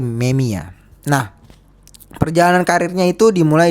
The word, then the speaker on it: Memija: Memang tulisannya Kerim Memija, tapi cara bacanya adalah Kerim Memia.